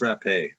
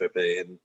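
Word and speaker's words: Rappe: It was her name was Rape. Virginia Rap. It's it's pronounced Rape.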